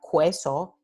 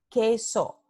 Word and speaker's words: queso: Por ejemplo, queso. Esto no se pronuncia queso, se pronuncia queso.